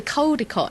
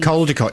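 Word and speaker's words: Caldecotte: There's a codicott in Milton King. Coldott. You see, you get very confused if you say kodicott cuz people think you mean cold.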